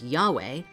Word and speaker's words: YHVH: Curiously, the Hebrew name of God, YHVH, or Yud-Heh-Vav-Heh, sometimes pronounced as Yahweh, when written vertically, produces an image that looks like a man.